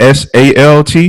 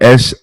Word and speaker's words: Sault: Not SALT, but SAULT, as in assault.